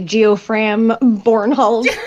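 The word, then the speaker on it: Geofram Bornhald: Pronounce this, Josh. Joffrem Bornhold. Kisrai. It's basically Geofram Bornhold.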